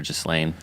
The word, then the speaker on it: Ghislaine: It it has an S in it, but I've heard it pronounced with the S or without, so Ghislaine or Ghislaine.